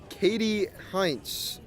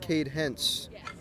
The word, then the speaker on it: Cade Hentz: Katie Heinz was how they just pronounced Cade Hentz.